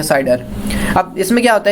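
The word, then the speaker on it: CIDR: उसके बाद आती है हमारे पास एक नया कॉन्सेप्ट जो कि हम कहते हैं साइडर, classless inter domain routing, इसको हम प्रोनाउंस करते हैं साइडर।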